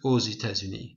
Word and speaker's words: aux États-Unis: Now we say ou, this X becomes a Z sound because there's a vowel here, but normally it's just pronounced ou. Okay, but we make a liaison here, it's called a liaison, and then X becomes a Z sound, so aux États-Unis.